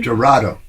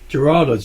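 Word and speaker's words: Gerardo: I wanted to make I pronounce it correctly. Gerorado. Gerard. Gerorado.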